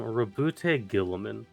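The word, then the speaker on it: Roboute Guilliman: There's a man named, and his name is really dumb, Rabute Gilliman in Warhammer.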